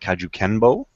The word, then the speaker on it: kajukenbo: So, Sanchez is a Jackson Winkl John guy and he's a black belt in I believe it's pronounced kajukenbo, which is karate, judo, boxing, and kempo karate.